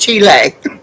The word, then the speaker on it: Chile: insulted her back and saying aunt bob it's pronounced chile i couldn't help it i'm sorry we she